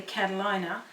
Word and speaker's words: Catalina: taste so just in case I'm pronouncing the name wrong it's properly Catalina and I'm calling the Catalina but this is the dressing delicious now I'm